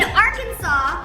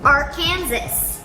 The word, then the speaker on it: Arkansas: So it's 3 syllables. Arkansas. Or is it Arkansas? I don't know.